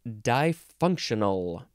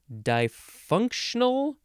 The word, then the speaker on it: difunctional: uh what is it it is difunctional dysfunctional three syllables or difunctional four syllables d-i-f-u-n-c-t-i-o-n-a-l difunctional adjective from 1943 it is not the word dysfunctional that's going to be later this is dye functional of relating to or